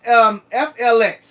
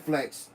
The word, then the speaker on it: FLX: So it's FLX. We just pronounce it Flex. But maybe we should just start saying FLX.